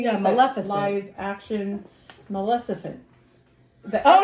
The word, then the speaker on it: Maleficent: Live action Maleficent. The Oh F- no, that's not how I The pronounce S is it. at the end.